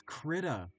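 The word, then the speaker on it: Krita: Uh, this is Critter. Uh, it's spelled K R I T A.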